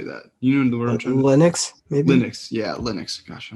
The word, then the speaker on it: Linux: buy it on playstation for windows loon uh lunix oh my gosh how do you say that you know the word linux linux yeah linux gosh i don't know why